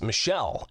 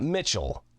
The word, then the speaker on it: Michel: that cus works for it's Michelle and Associates not Mitchell and Associates uh if that's right